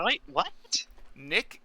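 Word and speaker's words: Knick: Nick is spelled K N I C K. Like Kick, like a kite in shining Kung armor.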